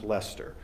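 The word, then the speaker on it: Leicester: Um, I even learned how to pronounce Lester. He attended the University of Leester, so I had to look that one up to make sure I got it right.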